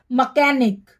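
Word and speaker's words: mechanic: कल से पहले इंच है तो यह हमारा साइलेंट है ठीक है आगे हमारा नेक्स्ट है मकैनिक macam-macam मिस्त्री मकैनिक में भी हमारा जो है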